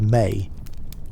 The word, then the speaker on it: me: The ancient Sumerian texts speak of something called the Emmi, pronounced May.